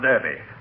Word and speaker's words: Derby: any Derby that is some people use the English pronunciation for Derby Derby since when did they start running the Kentucky Derby in England L they don't run it in England it's just an English pronunciation well why should they